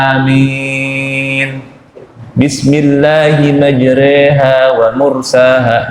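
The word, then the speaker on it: مجريها: Bismillahi majreha wa mursaha. Majreha itu namanya imalah. Jadi i-nya dimiringin, lebih condong ke e, itu namanya imalah.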